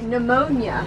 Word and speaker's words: pneumonia: P yeah no p no it's pterodactyl Molly like pneumonia yeah nobody says nobody says pneumonia because the p is silent because I don't know